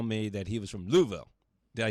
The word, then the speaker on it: Louisville: And he always made sure to tell me that he was from Louisville. Did I say it right? Louisville.